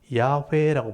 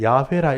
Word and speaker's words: 야훼: 그래서 이제 자음에다가 아도나이 모음을 붙이니까 여호와라는 발음이 나온 거예요. 그래서 여호와라고 우리가 이름 불렀지만 실제 학자들이 연구해 봤을 때 이 하나님의 이름은 야훼다. 그래서 야훼란 말도 들어보셨죠? 그래서 이제 이게 정확한 발음일 거다 하고 이제 주장을 하는데 둘 다 쓰이는 거예요. 그래서 어떤 뭐 이렇게 교회 가면 하나님을 이 여호와란 말을 야훼라 읽기도 하고 또 이게 통상적으로 그냥 여호와라 읽기도 하는 거예요.